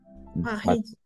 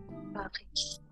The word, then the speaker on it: Paris: Paris. Paris. Le S est muet. Le S est muet. La S est muda al final. Paris.